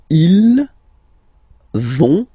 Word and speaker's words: vont: So ils vont, final T not pronounced, ils vont, and then feminine form, elles vont.